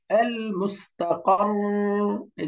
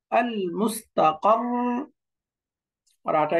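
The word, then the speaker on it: المستقر: আল মুস্তাকাররু ওয়াকফ করলে আল মুস্তাকার, এই যে কর, দুইটা রা যেহেতু সুকুনটা একটু ধরে রাখতে হবে। আল মুস্তাকার, আল মুস্তাকার, রাটা একটু ধরে রাখতে হবে। কিন্তু এরকম পড়া যাবে না আল মুস্তাকাররু, দাম্মা উচ্চারণ করে দেওয়া যাবে না, দাম্মাটা সুকুন হয়ে যাবে।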